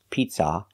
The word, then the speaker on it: pizza: like cup and up not an open Sound ah Pizza it's not ah like hot and stop it's uh like cup and up pizza it's a closed sound for the second syllable and make sure the stress is on the first syllable pizza not pizza but